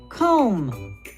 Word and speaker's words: comb: That word has a silent B. It is the word comb.